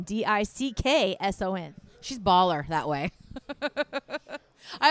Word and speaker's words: Dixon: So it's pronounced more like dicks on. Dicks on. Supposed to be Dixon, like kind of nice and together, but no kid's going